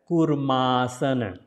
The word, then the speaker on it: Kurmasana: So, it is called 2 times O, right? So, it is not U here. So, it is that U sound will be little longer.